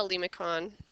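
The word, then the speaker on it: limaçon: Okay, we call that a lemicon. Some people might not use a hard C on that.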